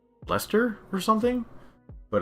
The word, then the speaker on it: Leicester: So an American would say Leicester, but I think it's just pronounced Leicester.